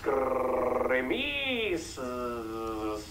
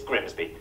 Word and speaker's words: Grimsby: But what if we told you it was pronounced Grimmies? We'd be lying. It's Grimsby.